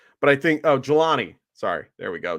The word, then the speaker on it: Jelani: Julian Woods, or I know I butchered his name, but I think Jelani. Sorry, there we go. Jelani Woods.